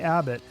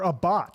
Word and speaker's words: Abbott: Is it Abbott or a bot? Because I heard somebody say it as a bot. No, it's Abbott.